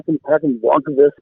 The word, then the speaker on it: Håkan Blomqvist: How do you pronounce his name? He's also a researcher, UFO researcher. Oh, yeah, Håkan Blomqvist, Swedish researcher.